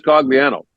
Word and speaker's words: Cogliano: People were screaming at me via email, like, it's Cogliano, you idiot. And I'm like, talk to his dad, Carm, who I know because Andrew played with Mike McKenzie, Bob's son, at St. Mike's. Talk to Carm. He says Cogliano. You cannot say your own name wrong. But you actually can't.